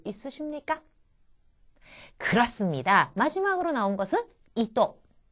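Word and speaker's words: いと: 마지막으로 나온 것은 이또 이또 토라고 하는 것이 처듬이 아니기 때문에 또처럼 들리죠.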